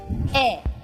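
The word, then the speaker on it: ええ: So the e which means yes is e. It's pronounced like e sort of a flat and sort of in a falling intonation.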